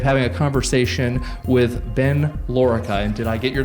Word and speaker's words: Lorica: privilege today of having a conversation with Ben Lura and did I get your last name pronounced correctly that's perfect Chris okay um and